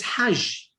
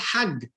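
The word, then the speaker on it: حج: In Arabic is Hajj. But in Egyptian Arabic, they don't pronounce the J, they pronounce the G. So in Egyptian Arabic, it's called Hag.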